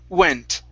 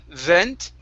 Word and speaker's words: went: Instead of v, vent, okay, it's an oo sound. Ooh, oo, ent, went. Try that one more time. Went. There, that's it. Okay, so when you have a word that starts with a W, start off with an oo. Okay, and you'll slide right through the rest of the word.